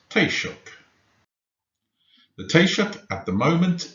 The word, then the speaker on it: Taoiseach: How is it pronounced? Taoiseach.